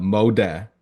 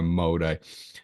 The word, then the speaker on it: Molde: We're talking about Molde FK. You can't just call them Mold because they're not a mold; they're a Molde.